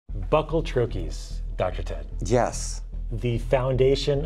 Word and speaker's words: troche: It's pronounced troi, not treet, not tro, and not anything in between. It's called troy.